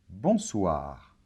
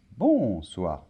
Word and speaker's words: bonsoir: et le r finale bonsoir très bien accents toniques et toujours à la fin des mots en français donc c'est pas bon soir non bonsoir d'accord bonjour très bien